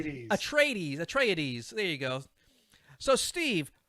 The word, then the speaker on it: Atreides: is it how do you say these atreides atreides there you go so steve who do you